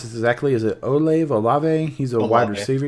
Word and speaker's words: Olave: Or I think you could see probably, I don't know how to pronounce this exactly. Is it Olave? He's a wide receiver. It's Olave. Yeah, Olave.